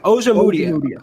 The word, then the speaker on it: Ojemudia: How do you pronounce his name? Ojemudia.